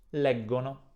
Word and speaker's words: leggono: Leggo, leggi, legge, leggiamo, senza pronunciare la I, leggete, e di nuovo, suono duro, leggono.